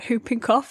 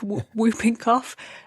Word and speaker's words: whooping cough: at medical school and pronouncing the W in hooping cof so like whooping cough and the Leer pointed